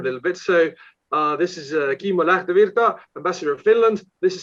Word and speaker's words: Kimmo Lähdevirta: This is Kimmo Lähdevirta, Ambassador of Finland. This is his proper pronouncing of his name.